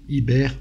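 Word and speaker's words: עבר: Le même mot qui veut dire celui qui passe, veut dire aussi féconder, prononcé Héber, féconder, aussi l'embryon, Ouber. On voit la vocation du peuple hébreu qui est une matrice messianique.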